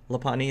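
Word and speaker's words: Lopunny: pani is the bunny laponia is how you pronounce the bunny Pokemon she's got bunny makes a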